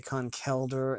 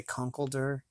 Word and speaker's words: Conkeldurr: okay that's okay but yes Akon Kaldur and some people say Conkeldurr I don't know what the official correct way to say it is either way it looks